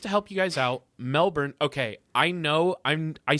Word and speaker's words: Melbourne: out sounding right, but Alex says Melbourne is pronounced Melbourne. And and I like I get the R.